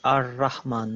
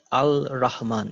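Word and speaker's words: الرحمن: You know, like why do we pronounce it as Ar-Rahman, not Al-Rahman?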